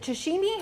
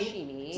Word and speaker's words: sashimi: Is it sashimi? How do you say that? Sashimi.